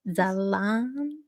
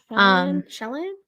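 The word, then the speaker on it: Ixalan: I think the I is silent. Zalan. Yeah. I don't know. Shalan. Usually IX is a sh. Shalan.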